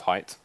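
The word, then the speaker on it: Hite: like Japanese no like Korean beer is is pronounced height yeah where where if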